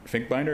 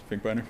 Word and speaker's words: Finkbeiner: of the conciliation process mr. Adam Fink binder is that the guy's Finkbeiner yeah sorry I'm still getting used to the pronunciation so it will be